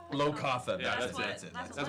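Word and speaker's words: Locathah: Yeah, it's Lokatha. Low Katha.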